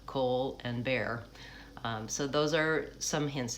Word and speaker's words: Colbert: before he was famous, had to tell people to say his name like Cole and Bear.